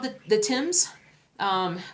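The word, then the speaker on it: Thames: the the Tims um which the Tims river which is spelled t h m s did I do it right my UK fellow friends my fellow stitchers in the UK I want to say it's Tims not the tames right it's the Tims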